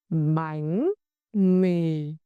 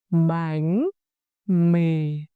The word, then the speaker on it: bánh mì: When you pronounce this tone, you lower your voice.